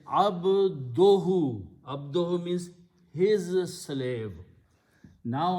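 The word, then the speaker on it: عبده: So now the pronunciation is abduhu.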